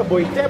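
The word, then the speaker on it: boîte: Bueno, ¿cómo se pronunciaba? Boite, Boite.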